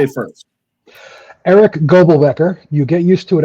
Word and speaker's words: Goebelbecker: And notice I didn't say your last name because I probably butchered it, so I'm going to let you say it first. Eric Goebelbecker.